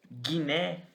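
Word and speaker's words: γυνή: Então, por exemplo, na palavra Guiné, que significa mulher, eu não vou falar Giné, eu não vou falar Giné, eu vou falar Gui, tá?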